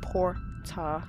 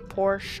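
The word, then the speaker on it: Portia: it's called my time at porsche or porta because apparently that's how the game says it because that's how she said it when i first played this game on the pc so i've been saying it wrong all these years can you believe that it's my time at porta not porsche i don't know why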